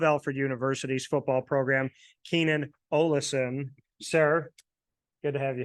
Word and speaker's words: Ollison: It's actually kind of different in my family because like one of my uncles prefers Allison. Okay. Everyone else says Ollison.